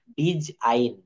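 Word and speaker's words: design: ডব্লিউ ও আর ডি ওয়ার্ডের শেষে জি অথবা এন থাকলে তার উচ্চারণ আইন হয় অর্থাৎ উচ্চারণটা শেষে কিন্তু আইন হয়ে যাবে একটু উদাহরণ এখানে একটা টেনে নিয়ে আসি ডিজ আইন দেখেন ডিজ আইন রিজ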